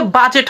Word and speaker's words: budget: আজকের পর থেকে আপনারা শিখবেন যে কেন ঘটনাটা ঘটলো, এটার উচ্চারণ আসলে বাজেট হয় এবং আমরা বাজেট উচ্চারণই করি। কেন করি জানেন? কারণ ডি এর পর যদি জি এবং যদি হচ্ছে জে থাকে, তাহলে জি এবং জে